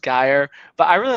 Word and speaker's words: Geyer: So it is pronounced Geyer.